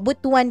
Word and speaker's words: Butuan: Yes po, Butuan po ang pagkaka-pronounce niyan.